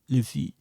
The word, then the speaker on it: filles: This one you don't have to pronounce it. Nope, les filles.